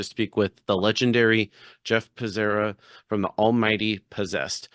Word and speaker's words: Becerra: say my name wrong it's supposed to be but I say it's just Basera Basera and that's like the American you know it's good